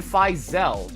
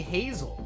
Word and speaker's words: Hazel: Okay, so I would have normally said Fisel, but it's actually Hazel.